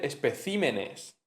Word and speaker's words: especímenes: Eh, entonces se dice especimen, pero se dice especímenes.